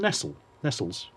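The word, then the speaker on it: Nestlé: Do you remember when Nestle was called Nestles? And they just changed the pronunciation overnight? No. Yeah, it used to be Nestle's Milky Bar in the advert.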